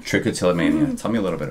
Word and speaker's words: trichotillomania: me a little bit about how do I pronounce it again trichotillomania trichotillomania tell me a little bit about that yeah